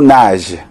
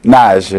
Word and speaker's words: Nagy: Ses parents étaient d'origine hongroise, donc il s'appelle Thibaut Nagy. Et on prononce comme en hongrois. Oui, voilà. Tout à fait, Nagy comme en hongrois.